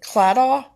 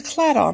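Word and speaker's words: Claddagh: And I think you pronounce it Cladaw.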